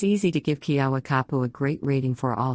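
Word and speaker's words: Keawakapu: out with a local kiawa kapoor pronounced ki abakapu beach is one of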